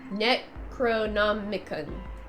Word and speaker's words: Necronomicon: Necronomicon. Nomicon. Yes, I think that's how you pronounce it.